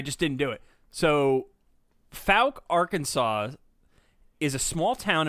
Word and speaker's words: Fouke: i cannot pronounce it's folk i just google it it says f-o-u-k-e arkansas rhymes with poke okay so folk the folk monster okay that's it